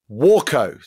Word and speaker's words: Waco: to the aircraft is usually pronounced warco like the first syllable pronounced as in water not wo like wo